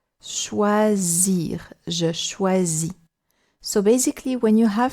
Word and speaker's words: choisir: You see that this letter S, when it's on its own, sometimes can do Z, like here, because it's surrounded by two vowels. Choisir, je choisis.